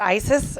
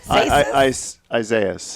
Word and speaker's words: Isaias: Is it ISIS or ISIS? Isaias. Isaias? No, it's not Hurricane ISIS. That's what it looked like. Hurricane Isaias.